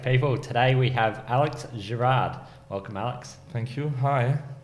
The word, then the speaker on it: Girard: I you attack people today we have Alex Gerard welcome Alex thank you hi how are you